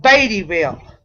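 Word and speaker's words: Beattyville: that town if you don't mind it's called babyville oh baby like baby is in like little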